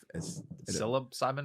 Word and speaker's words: psilocybin: Yeah, psilocybin, Psilocybin. commonly known as magic Of course, mushrooms. spelled with a P because we want to Yeah. fucking confuse everyone.